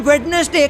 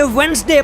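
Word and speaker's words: Wednesday: Number 15, English में कई ऐसे वर्ड्स हैं जिसे हम रोज बोलते हैं, जैसे कि वेडनेसडे को हम वेडनेसडे कहते हैं पर उसे वेडनेसडे प्रोनाउंस करना चाहिए और डाटा को डाटा नहीं बल्कि डेटा बोलना चाहिए।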